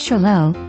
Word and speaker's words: Xolo: Also called the Zolo, pronounced Cholo, this native Americana makes a lively companion with an appealing and sociable personality.